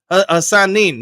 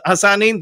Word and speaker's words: Hassanin: It's pronounced Hassanin. Yes, Hassanin. Thank you.